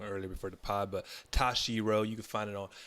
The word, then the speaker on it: Toshiro: I said it wrong earlier before the pod, but Toshiro.